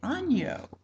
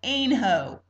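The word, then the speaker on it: Aynho: And we thought politely surely they say ano. I found out today from someone who heard it from a local. It's called anho.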